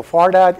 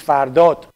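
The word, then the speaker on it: Fardad: when I'm speaking English I pronounce my own name incorrectly so far that is wrong actually it's far dot but when you speak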